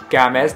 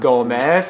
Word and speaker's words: Gamez: Gamez, not Gomez, and not Gamez. It's spelled just how you see it in the title.